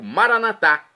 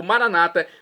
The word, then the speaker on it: maranata: E agora do dialeto de Jesus, o aramaico, maranatá, como dizemos nós católicos, ou maranata, como dizem nossos irmãos separados, os evangélicos ou protestantes. Não importa a pronúncia, o significado é o mesmo.